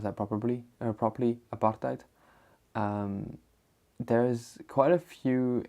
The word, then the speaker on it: apartheid: situation and during apartheid um and just to pronounce that probably or properly apartheid um there's quite a few interesting bits of